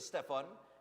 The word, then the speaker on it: Stephan: birthday is tomorrow so happy third birthday to Stefan and it's spelled s t e p h a n